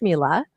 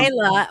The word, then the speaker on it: Myla: Myla or It's Mila. Mila. It's okay. I know a lot of people say Myla, but it's Mila.